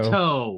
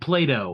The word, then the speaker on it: Plato: No, it's spelled with a T and not a Y. The Play-Doh. Plato. You said Yeah, you said Play-Doh.